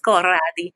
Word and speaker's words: Corradi: Just think of it with an Italian accent, Corradi.